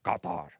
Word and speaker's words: Qatar: It's from the back of your throat. Qatar.